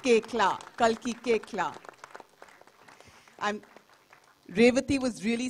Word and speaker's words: Koechlin: It's pronounced Koechlin.